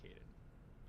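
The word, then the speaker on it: Kaidan: Is because for me, I believe the proper pronunciation is Kaiden.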